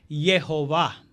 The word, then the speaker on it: Jehová: La pronunciación correcta del tetragramatón es Jehová.